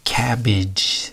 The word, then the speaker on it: cabbage: So we have two, even now we have two A's here, right? But they're pronounced differently. So we have cabbage, not cabbage, cabbage. So it has like an I sound, it, cabbage.